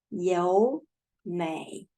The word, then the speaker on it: 友美: Here, the third tone before the other third tone. we change this formal third tone to second tone. So we pronounce 优美.